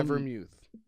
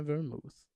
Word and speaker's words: vermouth: Dry vermouth. Dry vermouth. It's spelled vermouth. Vermouth. Yeah, it's Vermouth. Vermouth. Vermouth. But we call it vermouth.